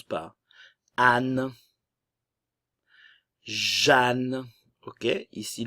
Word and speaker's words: Jeanne: Anne, Jeanne, ok, ici le E et le A vont se prononcer comme si on avait la lettre A.